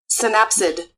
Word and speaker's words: synapsid: check this a synapsed I think it's pronounced synapsed let's search this up and here synapsid yeah so synapsid synapsids yeah so the